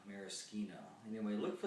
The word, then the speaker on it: maraschino: our cherries out and i believe it's pronounced maraschino if you're italian maraschino and then we look